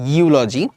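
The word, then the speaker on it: eulogy: university একটু আগে দেখলাম ইউলজি হ্যা এর মত উচ্চারণ হচ্ছে ইউলজি আচ্ছা ইউলজি মানে কি বলতো ভাইয়া ইউলজি মানে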